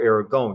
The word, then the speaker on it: Aragon: separate and so were castile and aragon or aragon depending on your pronunciation when they married those